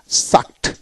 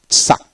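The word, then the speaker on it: sucked: যে এখানে দেখেন সাক, এসইউসি কে সাক, সাক, চুসা, সাকট, সাকট, ইডিতে ট উচ্চারিত হয়, সাকট, সাকট, চুসা।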